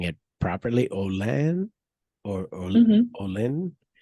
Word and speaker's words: Olin: I see also on your LinkedIn profile that you had some time at am I pronouncing it properly? Olan or Mm-hmm. Olin? Olin.